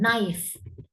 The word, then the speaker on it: knife: இப்போ நைஃப், நைஃப்ல வந்து K silent.